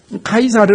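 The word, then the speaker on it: Caesar: 채 쌀의 고 있는 그대로 라틴어 발음 정식 발음을 하면 타이 사례입니다 카이사르 라고 하는 것이 맞게 는데 한국의 성경은 가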